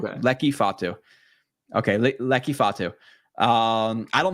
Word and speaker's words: Fotu: It's Fotu. Okay. Lecky Fatu.